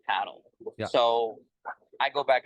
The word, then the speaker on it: padel: I mean, so I've been calling it just paddle for 5 years, but then at our club this year they wanted us to start calling it Padel. And I think the reason that they wanted to call it Padel, not only at our club but all around the U.S., is to help differentiate the sport from other sports.